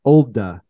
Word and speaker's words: Olde: Is that the way that Mike pronounced it, though? That's all I was saying. I heard him on a podcast. It's Olde.